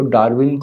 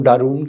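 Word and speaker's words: Darwin: تو پھر کہیں وہ ایسے مواقع بھی آئے کہ ہم تو ان اساتذہ سے پڑھ کے آئے تھے جو ڈاروین کو ڈارون کہتے تھے.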